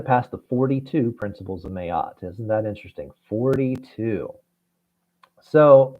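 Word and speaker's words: Ma'at: 42 principles of mayot that is spelled m apostrophe a t mayat or mat you had to pass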